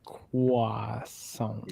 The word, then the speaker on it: croissant: No, it's not like crescent. It's like croissant.